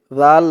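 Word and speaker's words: ذو: দিয়ে এই লাম ধরবে জাল লাম পেশ জুল জালের উচ্চারণটা একদম নরম পাতলা হবে জিহ্বার মাথা উপরের দাঁতে এর মাথার সাথে লাগবে জালের উচ্চারণ করার সময়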